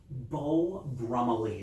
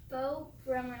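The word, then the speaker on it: Beau Brummell: Your clothes may be Beau Brummely is how you say that. Beau Brummely.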